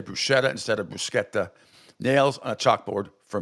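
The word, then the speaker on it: bruschetta: see I get offended when people say Bretta which is absolutely goes through me like nails on a chalkboard it's brusketta you never ever pronounce the sh like that ever that's Bretta and a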